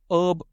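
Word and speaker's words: herb: ये सबसे ट्रिकी है क्योंकि ब्रिटिश प्रोनाउंसिएशन में तो ये हर्ब रहता है, लेकिन अमेरिकन प्रोनाउंसिएशन में ये पूरा का पूरा ह साउंड ही उड़ जाता है और इसको ये लोग अर्ब प्रोनाउंस करते हैं। ह कंप्लीटली गॉन, ओनली अर्ब। थोड़ा सा ऑकवर्ड है ना? तो अगर आप इसे अर्ब या हर्ब प्रोनाउंस करते हैं, दोनों सही है बॉस, कोई चिंता की बात नहीं है।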